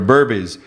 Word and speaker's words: Burbiz: Yeah, they were out there for Burbiz.